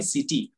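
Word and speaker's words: city: And then same ಸಿಟಿ ಸಿ ಐ ಟಿ ವೈ ಸಿಟಿ, ನೋಡಿ ಸಿ ಆದ್ಮೇಲೆ ಐ ಇರೋದ್ರಿಂದ ಇಲ್ಲಿ ಸಿಟಿ ಆಗ್ತಾ ಇದೆ.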